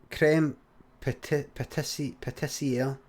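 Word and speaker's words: crème pâtissière: sort of thing as creme patissiere. Is that how you say it? Aye, that kind of thing. It's creme pat.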